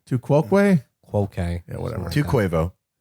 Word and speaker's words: tu quoque: I don't know how it's pronounced. It's Latin. Tu quoque. Too quoque.